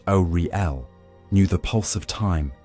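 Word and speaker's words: Auri-El: In those years, the Aldma, first children of Ariel, pronounced Oriel, knew the pulse of time as an almost musical cadence, slow, resonant, and filled with memory.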